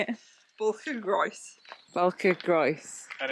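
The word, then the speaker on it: Bwlch y Groes: So Sarah, who is actually Welsh, to pronounce that, how do you say it? Balcagroes. Balcagroes.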